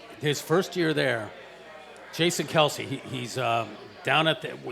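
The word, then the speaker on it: Kelce: well you know his his name was really Kels and somebody when they still lives yeah it's kill somebody yeah right but they but someone mispronounced it Kelsey and it just stuck right so they said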